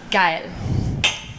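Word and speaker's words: geil: word would be um G what what it's actually a ger expression it's spelled g e i l you spoke oh okay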